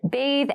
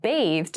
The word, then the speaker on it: bathe: or taking a bath please note bathe and bath have separate pronunciations the pronunciations are different we can't say take a bathe for example it's incorrect but you can say